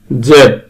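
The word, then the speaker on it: Z: ওয়াই ওয়াই জিড জেড এই লেটারটাকে আমরা জি উচ্চারণ করতে পারি এবং জেড উচ্চারণ করতে পারি আমেরিকানরা উচ্চারণ করে জি এবং ব্রিটিশরা উচ্চারণ করে জেড ইংরেজি লেটার গুলোকে দুভাবে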